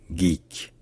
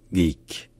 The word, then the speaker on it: geek: cert en anglais à l'origine ce mot se prononce simplement geek geek et c'est pareil en français ça devient simplement